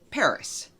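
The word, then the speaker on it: PVRIS: PVR is but according to google it is pronounced Paris I didn't realize that and I mangled the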